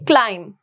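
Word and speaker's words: climb: कॉम बी is silent similarly क्लाइम यहां पर भी क्या है बी इज साइलेंट अगर मैं यहां पर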